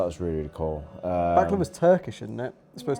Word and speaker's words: baklava: No, you just said the baklava. How do you say it? Baklava. Baklava. Not back of her.